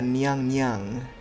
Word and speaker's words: Nyan Nyan: Seiga Nyan Nyan is meant to be pronounced the same way as Seiga Nyang Nyang, which basically just means Lady Seiga.